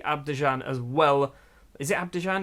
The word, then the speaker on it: Abidjan: Is it Abidjan?